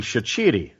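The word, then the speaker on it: Shaqiri: it from the cilic it should actually be shiti but if I did that everyone would think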